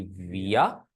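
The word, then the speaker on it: wir: अब विया प्रोनाउंसिएशन किस तरह आएगी स्टूडेंट्स? देखिएगा जो लेटर वे है ना डब्ल्यू जर्मन में इसको वे बोलेंगे। साउंड इसकी वी साउंड जो इंग्लिश का लेटर है उसकी साउंड आएगी।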